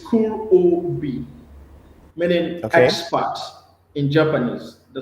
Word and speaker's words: Kurobi: Can you break it down like word for word or syllable, for syllable? It's Kurobi, meaning expert in Japanese.